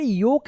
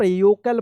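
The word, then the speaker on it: yolk: तो इस तरह से जो है आप एल साइलेंट वाले वर्ड्स को पढ़िएगा। जैसे यहां पे योक है तो इसका एक मीनिंग बनता है वाई ओ एल के ई एल यो योलकेल मत योकल पढ़िएगा।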